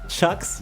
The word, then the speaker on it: CHXXX: It's pronounced Chucks.